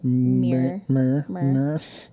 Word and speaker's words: MIIR: Oh, like mirror.